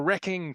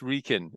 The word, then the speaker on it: Wrekin: And he said an American friend used to say, well, George, how's your wrecking trust? Right. The wrecking trust. So you don't pronounce the W. No, yeah, exactly. It's Wrekin. It's Wrekin Trust.